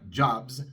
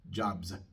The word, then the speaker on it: jobs: Y entonces en la palabra jobs, la S es sonora porque la B es sonora. La S se pronuncia como una Z, lo cual significa que